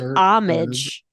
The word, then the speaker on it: homage: The letter H sometimes is silent when placed at the beginning of words such as our, air. It's actually homage.